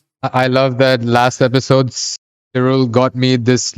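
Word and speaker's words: Syril: little different this is true oh and it's pronounced Cyril I noticed that his mom his mom kept calling him several several all right spell zero but yeah so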